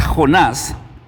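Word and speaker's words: יוֹנָה: hablando un poquito acerca del profeta Jonás, eh este este Jonás es un personaje no solamente muy conocido, sino que también es un personaje muy interesante. ¿Cómo se pronuncia el nombre de Jonás en el hebreo?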